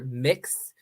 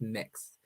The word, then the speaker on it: Mx: so uh MX or mix is my honorific uh so it's a gender neutral honorific pronounced mix um not like it